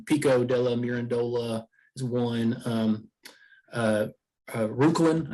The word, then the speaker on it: Reuchlin: Reuchlin, I think is how you pronounce it, which was a Bavarian